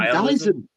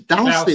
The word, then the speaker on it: Dalston: I used to call him Dallison, but his name's Dalston, isn't it?